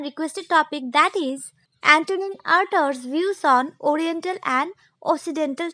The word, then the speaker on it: Artaud: Friends, you can also pronounce Artaud as Artaud.